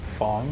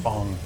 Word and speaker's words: FANG: I don't know if they do, but it's pronounced Fong. Fong. Yeah, it's kind of weird. I mean, I would get it if it wasn't an acronym, right? Yeah. Because it's Chinese and like, You.